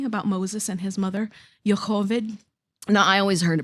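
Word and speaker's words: Yocheved: know that story about Moses and his mother, Yhovid. Now, I always heard it pronounced Jockabed.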